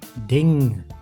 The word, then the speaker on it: ding: with this letter combination n plus K makes like in ding which means thing